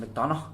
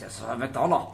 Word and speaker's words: McDonagh: Is that how you pronounce that? McDonagh? McDonagh. You McDonagh. can just say it normally. Well, I feel like you have to say it with the Oh, really? with the Scottish accent.